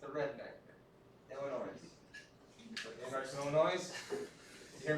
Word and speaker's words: Illinois: Illinois. Anybody from Illinois? You hear me? I'm accentuating the S to show that I know that we don't pronounce that, but I always did when I was younger, right?